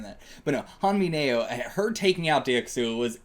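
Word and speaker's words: Han Mi-nyeo: absolutely baller way for Han Minya to take out. How is that how you pronounce her name? Let me look this up again. I might be misremembering how it's spelled. Han Mineo.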